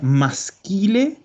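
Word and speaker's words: maschile: Esto se pronuncia masquile.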